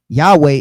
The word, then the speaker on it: Yahweh: Yahawah or Yahawah right so how do we get Yahawah which is three syllables Yahweh is two syllables so in the Greek it's two syllables Yahweh Yahoo Right.